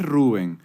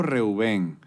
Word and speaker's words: Reuben: Reuben o Rubén? ¿Cómo se pronuncia? Porque se escribe Reuben. En inglés, Rubén. Ok. En hebreo, Reubén. En español se traduce Rubén, pero me puedes decir como quieras.